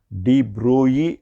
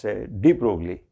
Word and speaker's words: de Broglie: revolutionary idea proposed by the French physicist known as de Broglie, or with the usual pronunciation we call him as de Broglie, and that is de Broglie hypothesis of matter waves.